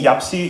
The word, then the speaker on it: YAPC: Welcome to Kiev, welcome to Ukraine, welcome to this year's YAPC Europe.